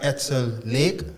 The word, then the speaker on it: Edsel Lake: Yeah, we have Edsel Lake. Hope I'm pronouncing and saying your name correctly.